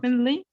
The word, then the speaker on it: definitely: Definitely. تاني كده. Definitely. Definitely, definitely, definitely. So you do not pronounce the T.